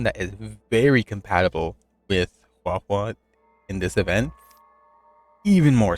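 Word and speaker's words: Huohuo: right now, I've been rocking since I got How How. Or not How How. You forget how to pronounce his name. Hua Hua? Hua Hua.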